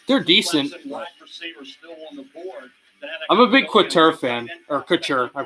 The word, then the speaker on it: Couture: I'm a big Couture fan, or Couture. I pronounce it Couture.